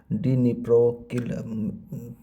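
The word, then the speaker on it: Дніпро: the Ukrainian city of डी निप्रो I think डी निप्रो ही पढ़ा जाएगा जो डिस्म में साइलेंट है तो निप्रो पढ़ा जाएगा क्योंकि सिटी है तो कंफर्म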